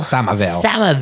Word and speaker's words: Somerville: Did I pronounce the town right? Somerville.